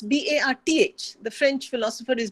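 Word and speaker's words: Barthes: It's B-A-R-T-H. The French philosopher is B-A-R-T-H-E-S, both pronounced Barth.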